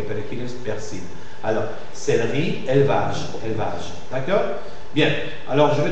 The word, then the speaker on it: élevage: Donc, la caïda de E muet, la perte de E muet de la syllabe suivante, de E muet, fait que le E, même s'il a l'accent circonflexe, se prononce E ouvert.